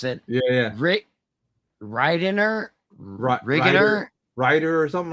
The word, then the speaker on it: Wrighter: Yeah, we'll call him Ryder for that. Right? What's it? Is it? What was it spelled? WHWRIGHTER. Yeah. It's Ryder. Yeah, because the W is silent, so it's Ryder.